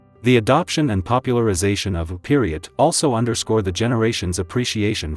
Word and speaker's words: Periodt: The deliberate misspelling and pronunciation, with a hard T at the end, give the word added emphasis and finality.